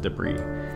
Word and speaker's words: debris: our depressed and yes I know that's pronounced debris okay so our de bris